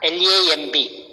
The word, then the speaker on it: lamb: Next one is lamb, L-A-M-B. The spelling is L-A-M-B, but the last two word is silent lamb.